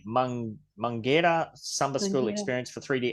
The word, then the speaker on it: Mangueira: All right, the Mangueira I said it wrong again. Mangueira Samba School experience for 3D avatars.